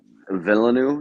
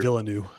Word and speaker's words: Villeneuve: Yeah, I think Villeneuve, is that how you pronounce his Yeah, I name? think The it's Denis director Villeneuve.